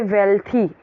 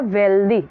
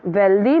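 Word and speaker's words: wealthy: द वेल्दी man wanted, अभी बहुत लोग इसको पढ़ेंगे वेल्थी। ठीक है, जैसे वो बोलते हैं हेल्दी को हेल्थी, तो जैसे हेल्दी होता है वैसे ही सेम इसका भी स्पेलिंग हम देख रहे हैं। तो ये क्या है? वेल्दी, नॉट वेल्थी।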